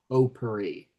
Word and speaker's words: potpourri: Spelled with a P-O-T at the front, but spelled or pronounced potpourri.